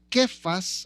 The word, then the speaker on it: Cefas: Entonces, algunas veces en los escritos en el Nuevo Testamento usted va a encontrar que dice Cefas que su pronunciación del arameo sería aproximadamente como quefas. o algo así significa piedra en arameo.